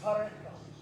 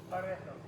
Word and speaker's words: Pareto: His name was Pareto. That's not how you pronounce it. I'm from the country. If you just roll an R, they'll let you buy any foreign language. Pareto.